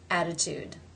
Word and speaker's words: attitude: In the second word, it begins an unstressed syllable, and it falls between two vowel sounds. Attitude. Attitude. Therefore, it is the flap, tap T, or D, the D sound.